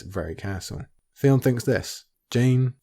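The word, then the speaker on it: Jeyne: castle theon thinks this jane jane it rhymes with pain how woefully true that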